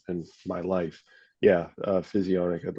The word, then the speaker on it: physionic: yeah just type in physionic that's spelled like physio like you go to Physiotherapy and then Nic just tack those together and you got it it'll show up for